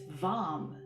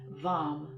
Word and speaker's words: vam: root chakra this week it's vom v as in victor a.m vom kind of in between v-a-m and v-u-m somewhere so we'll just bring